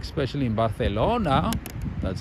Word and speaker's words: Barcelona: Yeah, even people in Spain are like, especially in Barcelona.